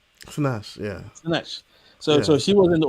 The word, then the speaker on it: Sinach: Sinach.